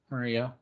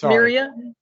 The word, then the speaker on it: Myria: name wrong you did it's myria it's like miriam without the m i think and then